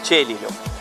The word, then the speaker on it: Celilo: se sia inglese, quindi come si pronuncia viene da sé, all'italiana, Celilo.